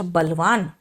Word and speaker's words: burly: इसका मीनिंग मैंने देखा, अच्छा बलवान, इसका मतलब बली, बली, BURLY में आर का प्रोनाउंसिएशन सॉफ्ट करेंगे, बली।